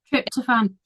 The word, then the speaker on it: tryptophan: more try try try I'm not good with pronouncing things try toam containing foods trip toan trip toan thank you trip toan containing foods